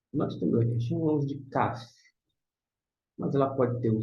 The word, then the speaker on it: Kaf: Então aqui corresponde ao nosso K, tá certo? Aqui é o K.